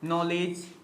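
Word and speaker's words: knowledge: तो यहाँ पर देखो बहुत सारे वर्ड हैं, नॉलेज, नॉलेज हो गया, नाइफ हो गया। अब देखो यहाँ पर क्या है, के साइलेंट है।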